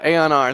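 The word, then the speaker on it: Aeon R: it Aon I don't even I'm probably gonna mispronounce yeah Aon R thank you um they've been posting a whole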